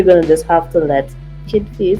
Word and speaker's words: Kid Faze: I think we're gonna just have to let Kid Phase. That's your stage name. That's how you say it, Kid Phase.